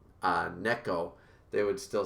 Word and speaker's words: Neko: They want you to say, Neko. Neko. Oh. Vib says, oh, lol, it's more like Neck-o than Nico.